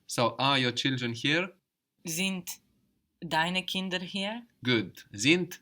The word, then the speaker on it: sind: So we have the S pronounced like a Z there, and the D on the end of the syllable pronounced like a T.